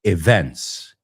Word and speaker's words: events: Training for events like the Ironman Triathlon. No events, sino events. Events. Es una palabra que se suele pronunciar mal. Events. El estrés está en otro sitio.